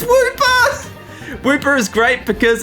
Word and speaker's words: Wooper: It's Wooper! Wooper is great because it's a water ground type, which means it's only weak to grass, and Wooper rhymes with my name, Cooper.